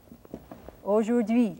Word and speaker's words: aujourd'hui: Dui, aujourd'hui, and the accent's on the last syllable.